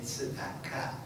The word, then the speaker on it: tzedakah: That would be, when we talk about it, we say tzedaka. That's the Israeli pronunciation. By the way, words that come from Hebrew into Yiddish almost always have the accent moved back toward the beginning of the word.